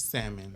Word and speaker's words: salmon: Please give us the correct pronunciation. One more time. It's Chef. what? It's salmon.